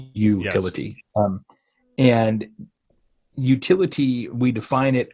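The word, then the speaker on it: Youtility: again going off Off Script but the word utility what what does that actually mean to you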